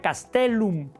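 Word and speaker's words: castellum: Con doble lellum se pronuncia castelum.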